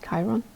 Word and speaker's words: Chiron: better okay it did chiron that's how you say it chiron hurt and heal those